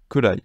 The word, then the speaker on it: ぐらい: Alors, gurai, il faut savoir que c'est un mot qui, comme goro, parfois va pouvoir se prononcer kurai. Donc voilà, gurai et kurai, ce sont deux mots que vous verrez qui sont la même chose, en fait, ils ont le même sens, c'est juste la prononciation qui change.